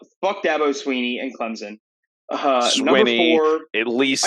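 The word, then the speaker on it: Swinney: Alabama number three uh Dabo Sweeney and Clemson uh at least I think you're gonna I said swimming I said it's Sweeney I thought it was sweet I think I'm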